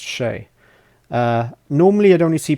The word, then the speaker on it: Che: del toro starring in is it shay i think it's pronounced shay uh normally i'd only